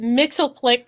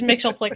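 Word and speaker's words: Mxyzptlk: This is how they say it in the show, but Mixelplick took them there. It's piddling. God damn it! But they said it was Mixelplick in the show, so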